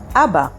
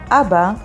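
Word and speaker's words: אבא: you ready to learn your first hebrew word abba abba means father and it's spelled with alef bet and alef abba next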